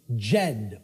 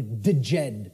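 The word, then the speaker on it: Djed: was known as the the Jed or the deed pillars depending on how certain people pronounce it and these Jed pillars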